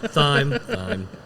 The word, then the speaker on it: thyme: says chocolate brown sugar Thyme and mint I bet you that vanilla drops pronounced thyme I'm sorry did I say time time uh so let's give